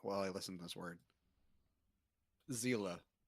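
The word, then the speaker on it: Seele: Zila. Zila? That's how you pronounce it. Yeah, Zila. Soul in German.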